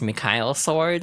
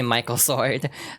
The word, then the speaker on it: Michael Sword: The way it's pronounced in the starter guide is Mikhail Sword. A lot of people just say Michael Sword.